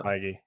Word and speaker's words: Feige: How do you pronounce it? The I think you it's know the, Feige.